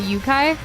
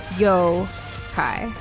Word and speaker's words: Yokai: which are Yokai not yukai am I supposed to say Yokai instead for like pronunciation oh okay yeah the O is pronounced the same as in go yo hi instead of yukai thanks